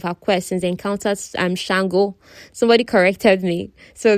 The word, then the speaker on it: Shango: He explained he'd known of her quest since they encountered Shango. Somebody corrected me. So the correct pronunciation for this god, this Orisha, is Shango, not Sango.